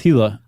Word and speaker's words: Gila: Um specifically the uh do you say Gila monster or Gila monster? I think it's Gila. I think it is too. British say Gila and they're wrong.